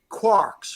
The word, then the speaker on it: quark: So they say, oh, quart, and maybe it might be pronounced quart. It might be pronounced in the Irish accent 3 quarks for Muster Mark, or 3 quarks for Muster.